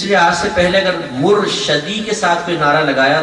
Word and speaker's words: مرشدی: کے ساتھ نعرہ لگائیں، شین کے نیچے زیر، مرشدی. اگر آپ کسی کو اس طرح نعرہ لگاتے دیکھیں کہ وہ غلط تلفظ کے ساتھ نعرہ لگا رہے ہیں تو پیار اور محبت سے اس کو سمجھائیں کہ آپ مرشدی نہ کہیں، مرشدی کہیں، مرشدی. ٹھیک ہے؟